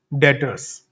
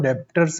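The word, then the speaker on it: debtors: डेटर्स या डेप्टर्स बोलते हैं सब। डेप्टर्स नहीं होता। डेटर होता है। इसमें भी साइलेंट होता है। डेटर्स।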